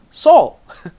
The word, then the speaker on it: 서울: 한국 사람들이 서울 그러는 거하고요.